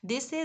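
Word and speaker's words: Wednesday: ही कर देते हैं यह सही नहीं है वेनसडे स है जिसे वेनसडे स्लॉट में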